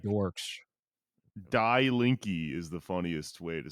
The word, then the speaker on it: Die Linke: I was gonna correct you and say, you know what? It's actually Die Linke, but then I remembered we're speaking English.